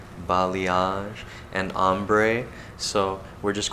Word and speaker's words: balayage: thrown at them like balayage and the correct way to say it balayage and ombre so we're